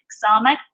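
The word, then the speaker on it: Samekh: a X sound, so Samek, a little bit of a softer S in that way.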